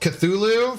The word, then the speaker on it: Cthulhu: It's pronounced Cthulhu from HP Lovecraft. Oh, okay. Cthulhu. Okay. Cthulhu.